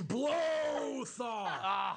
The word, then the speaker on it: Blothar: thinking ahead blow thought by the way it's blow thaw i know you pronounce